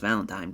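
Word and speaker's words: Valentijn: But because I always want to say Valentine over him, but it is just pronounced Valentine.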